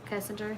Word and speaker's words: Kessinger: not know about nicole kessinger kessinger is how you say it um at the time